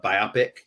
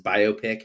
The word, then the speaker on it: biopic: like the conversation of uh biopic versus biopic how you pronounce it it's by b-u-y-opic in the running yes